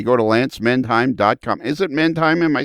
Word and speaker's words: Mindheim: Is it Mindheim?